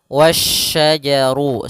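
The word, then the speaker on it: والشجر: lam alif lam syamsiah alif lam syamsiah yaitu langsung ke huruf syin dan di sini hati-hati jangan sampai terbaca huruf huruf Sin lagi tapi dia huruf syin wasajaru sebagaimana yang di awal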